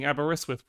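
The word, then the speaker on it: Aberystwyth: um every screen is well GG for actually pronouncing Aberiswith correct properly or Cadela properly does the handwriting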